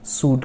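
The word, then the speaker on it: should: Words sentences हैं इसमें शुड का यूज़ होते हैं। तो शुड है एल साइलेंट। इसी तरह और भी मॉडल्स है लाइक वुड, कुड, इन सभी में एल साइलेंट है।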